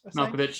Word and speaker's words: Malkovich: character, and that actor, John how do you pronounce his last name? Malkovich.